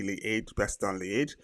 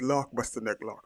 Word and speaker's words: Liège: So in Belgium, the Belgians don't say Liège-Bastogne Liège; they say Lac-Bastogne Lac. So that's well, not Flemish. What is it? It's Dutch? No, Belgian. But it's Loch Bastogne Loch, so that's how they pronounce it.